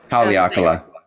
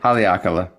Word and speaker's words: Haleakala: Um, Haleakala. is that how you say it? Yeah. Wait, how to say it again? Haleakala.